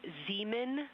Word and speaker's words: Zeeman: We believe that that is Zeeman Crater. Zeeman. Okay, and can you say the first letter? I may be pronouncing that wrong.